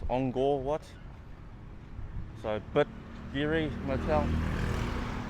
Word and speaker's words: Angkor Wat: K's in Cambodia, you pronounce it with a G sound. That's why it's called Angkor Wat, not Angkor Wat. It's Angkor Wat.